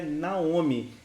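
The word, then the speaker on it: נעמי: a gente vai transliterar a pronúncia desse nome é Naomi inclusive o nome da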